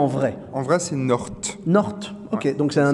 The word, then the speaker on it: North: Voici Galère d'humoriste avec aujourd'hui North. Ah, c'est comme ça, je le prononce à l'anglaise? À l'anglaise, ça passe mieux comme ça.